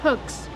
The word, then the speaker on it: hook: How do you pronounce hooks? Hooks. Use the short sound like look and book and good.